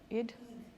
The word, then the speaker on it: Eid: Sana, the main character that season, her family has an Eid, how do you pronounce Eid? Eid?